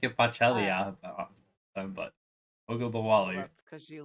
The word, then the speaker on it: Ogunbowale: Um, and so that's why I have however you pronounce that name. Try it. Ogunbowale.